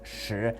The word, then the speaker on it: 食: But those characters, se and yam, and in Mandarin they're pronounced shi and yin, they still retain their original meanings in Mandarin, and they're now just more formal ways of saying eat and drink.